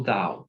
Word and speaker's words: Tao: Pero en ese sentido le llamaron Tao o down se puede pronunciar y este símbolo es